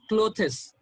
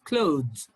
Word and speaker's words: clothes: breathe okay south clothes many people pronounce this as clothes clothes no that's absolutely wrong it's clothes clothes okay thanks thanks them